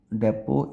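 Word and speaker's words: depot: Drone debris also set fire to a fuel डेपो इन दोनों में एस और T silent है। आपने बस डिपो सुना होगा तो।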